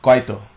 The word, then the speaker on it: Kwaito: type stuff like Muscanti, is it called, or Kwaito? Yeah, Kwaito. Very cool. Yeah. Kwaito. Yeah. Awesome. We've been trying to get some of these pronunciations of these new words.